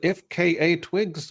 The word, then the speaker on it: FKA twigs: she a rapper how do you is it ifka Twigs or is it right that's right yeah am I pronouncing it right you are you know I